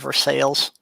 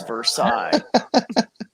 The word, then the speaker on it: Versailles: diana will always lose that if you save her sales hmm oh wow i'll have to remember that because it's versailles i don't know i love telling the story